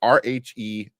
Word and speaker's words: Rhenzy: I don't know how to pronounce his first name. Renzi. It's Rhenzy.